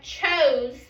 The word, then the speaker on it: chose: It makes the vowel it makes the other, like if we have a vowel, like we have chose, our E is silent, right? So what does it do to that O? It makes the O say what? Oh. It makes it say its name.